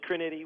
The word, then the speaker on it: Crinity: It's Crinity with the accent on the middle syllable, but yeah, glad to be here.